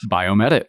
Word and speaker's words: BioMEDit: And our fourth one is really interesting, and I may mispronounce this. Is it Biomedit? Biomedit.